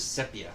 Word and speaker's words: sepia: So I anyway, always pronounce it sepia. I know it's not sepia.